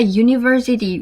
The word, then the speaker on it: university: cat, a book or a university where the u uh sounds like y not u.